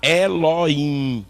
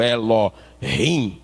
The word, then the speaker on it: Elohim: nem eloá aí está elohim ou elo rim como alguém queira pronunciar se for é o está